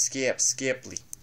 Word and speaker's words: Skip Skipley: It's pronounced Skip Skipley.